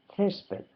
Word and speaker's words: césped: Por ejemplo, césped. Césped va acentuado en la primera E.